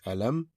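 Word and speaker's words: ألم: To start with the first word is alam where memes sound will not be prolongated. So it will be alam.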